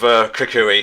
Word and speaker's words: Kukui: What do you think of Kukui here, who I actually had to watch a